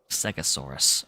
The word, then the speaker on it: Segisaurus: Segisaurus, okay. That's how it's pronounced.